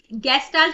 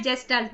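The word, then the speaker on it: Gestalt: next question, which of the following principles is central to गेस्टाल्ट, गेस्टाल्ट भी बोल सकते हैं, जेस्टाल्ट भी बोल सकते हैं, ठीक है, ये प्रोनाउंसिएशन का डिफरेंस रहेगा, यानी कि गेस्टाल्ट साइकोलॉजी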